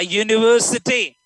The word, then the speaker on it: university: A one-eyed woman, a university. These are first letter vowel, but they give the sound of consonant.